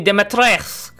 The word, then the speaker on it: Dimitrescu: Oh, that's how you say it, Lady Dimitrescu.